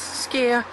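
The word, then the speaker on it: skyr: icelanders have enjoyed the nutritious benefits of skia pronounce as skia as part of their daily diet carefully strained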